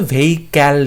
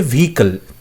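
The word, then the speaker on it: vehicle: এখন দেখো অপশন সিতে বলছে ভেহিক্যাল, ক্যাল বলছে ভেহিক্যাল, কথাটা কিন্তু ভেহিক্যাল নয়, কথা হচ্ছে ভেহিকল, ভেহিকল call, so সি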